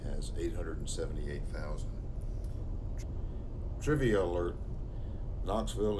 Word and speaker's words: Knoxville: 878 thousand trivia alert knoxville is the largest city united states with a silent first letter it's a nice day